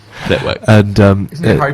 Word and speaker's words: Flitwick: You don't pronounce the W, it's silent. Flitwick. Flitwick.